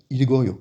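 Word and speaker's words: 읽어요: i, et on a ilkoyo. Ilkoyo, et oui, cette fois-ci, on peut faire la liaison, donc on va bien prononcer le liul et le kyok, donc ilgoyo, c'est comme ça que ça fonctionne.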